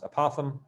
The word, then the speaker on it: apothem: which is called the apothem which is not just me saying the word opossum with a lisp it's actually pronounced apothem and that's like if